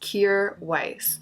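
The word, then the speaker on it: Kjaer Weis: to pronounce this brand it's pronounced cure Weiss I have been enjoying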